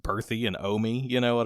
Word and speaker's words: Bertha: But for some reason, it's like instead of that, it's pronounced Berthy and Omi.